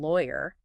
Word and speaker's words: lawyer: But add year and it becomes law. Stress on the first syllable and that definite year sound at the end.